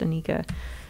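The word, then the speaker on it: Anarcha: in some ways it's spelled anarka but it's pronounced Anika anyway so I don't know exactly how he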